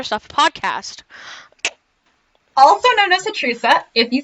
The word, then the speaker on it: HATRUSA: talk about other stuff podcast also known as atrica if you say it right and this week